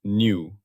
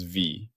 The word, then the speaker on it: nu: Its symbol is the Greek letter new pronounced new like new. I have mistakenly pronounced this as v. That was an error. It is new.